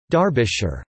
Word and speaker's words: Derbyshire: Darby the county town of Derbyshire pronounced Derbyshire Horsham after Horsham pronounced